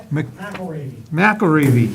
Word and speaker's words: McElravy: Presentation on the recent study findings with Tecton Architects, McLav, how do you say? McElravy. Just like it's spelled.